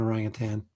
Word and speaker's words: orangutan: eyes uh that looks so much like an orangutan you know how I said it pronounced it pronounced it correctly orangutan um pretty